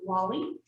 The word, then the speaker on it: Guale: georgia coast specifically are known as the wally and that is spelled a little bit funny it's g-u-a-l-e and that's what the spanish call them unfortunately we do